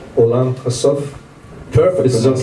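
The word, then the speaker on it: עולם הסוף: I know that the title in Hebrew, forgive me for my pronunciation, Olam Hasov.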